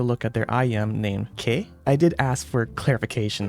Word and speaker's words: Que: at their IM named K I did ask for clarification on the pronunciation and to the best of my ability without knowing the language the pronunciation is closer to chit and means Magpie hence